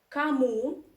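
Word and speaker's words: кому: again russian reduction law so kamu again one stressed you pronounce as a that's it about russian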